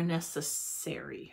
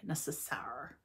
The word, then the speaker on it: Necessaire: I forgot to look up how you pronounce this company name. Is it Necessaire or Necessary? Necessaire.